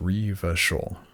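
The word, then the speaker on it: Revachol: a lot so far I have a choice pronounced Reva shil Iran's pronounce Iran yeah that's good to know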